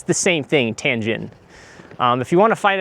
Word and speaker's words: Tientsin: You'll also hear it called Tientsin, I believe is the pronunciation. It's the same thing, Tientsin.